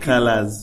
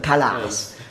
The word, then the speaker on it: Khalaz: Colors as in like colors as in like the English term colors, or the way that we actually the way that we pronounce it. Yeah. As black Khalaz. 7 Khalaz.